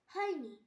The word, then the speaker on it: who: হু, WHO হু, এখানেও এইচ এর আগে ডাব্লিউ আছে তাই ডাব্লিউ এর উচ্চারণ হয়নি।